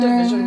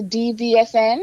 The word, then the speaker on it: DVSN: Did you know Division was Um, a group? is that how it's pronounced? Is that the DVSN?